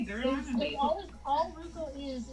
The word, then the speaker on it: Roku: I have, actually, a Ruko. Is that how you say it? I have no idea. Roku?